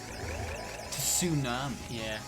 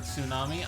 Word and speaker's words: tsunami: begun with TS and didn't realize the T was silent. Tsunami. Yeah. When I first read the word tsunami, I really did read it out as tsunami.